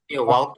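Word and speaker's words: walk: ওয়াক বলে, এল এই এল উচ্চারণ আসবে না।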